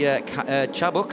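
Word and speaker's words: Çabuk: Argentina in 18th Haron chabok and I've been told off by the the Turkish contingent here this weekend that I've been pronouncing his name wrong it's actually chabuk and chabuk Josh for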